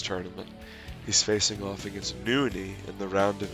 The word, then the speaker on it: NonY: Played under the ID Tyler after he got tired of people mispronouncing his name, calling him NonY. It's NonY, not that it really matters that much, but